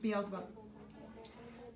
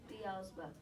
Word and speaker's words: Beelzebub: Beelzebub. Beelzebub.